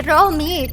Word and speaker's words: Reomit: Kalau di Korea reo itu bacanya ro. Berarti Romit.